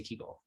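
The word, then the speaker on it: קוגל: So why do some of us say Kugel and some of us say Kegel? And why do some of us not eat Kegel at all? I won't answer that last question. I suppose it's a matter of taste. But Kugel and Kegel trace back to essentially the geographic distribution of Yiddish speakers and the dialects that match up with those geographic distributions.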